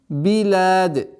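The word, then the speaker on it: بلاد: Филь биляд, филь биляд. После сукуна нужно максимально четко произносить огласовку кясра с буквой б.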